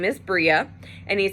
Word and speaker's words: Bria: So my name in Hebrew, so my name is Bria, Bria, and my name in Hebrew is Bria,